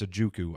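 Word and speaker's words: Ojukwu: And I'm a big proponent of it's Ajukwu. I keep forgetting the W is silent.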